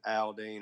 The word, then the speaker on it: Aldean: you know you hear some jason alden songs or jason aldean however you want to say it you know some people say oh you're saying it wrong you know but uh